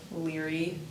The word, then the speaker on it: Leary: Liry L E A R Y.